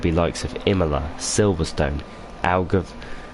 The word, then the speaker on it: Algarve: Will it be likes of Imola, Silverstone, Algarve?